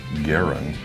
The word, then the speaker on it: Garand: I have the beautiful M1 Garand. Some people pronounce it M1 Garand, but either way is fine.